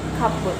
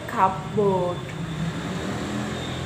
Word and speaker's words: cupboard: By contrast, the word cupboard, historically a compound of cup, and board, is always pronounced cupboard and never cupboard, even in slow, highly articulate speech.